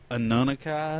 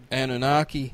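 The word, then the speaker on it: Anunnaki: that there race of gods known as the Anoni is that it is that right is that what it how you say it anunaki anunaki sorry that's what George El sucos told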